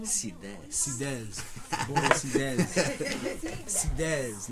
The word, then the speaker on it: Sidès: How you pronounce the last name? Sidès. Sidès. Bodo Sidès. Sidès. Not sides.